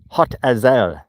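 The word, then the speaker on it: Hotazel: so there's no confusion, H O T A Z E L. Yes, hot Ael. And it really is extremely hot. Can you imagine living in a town called Hot Ael?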